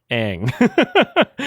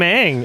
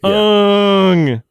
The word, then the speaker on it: Aang: Like let's say the main character's name wrong. That's the one thing we're gonna get right is saying it wrong. Make him say Ung.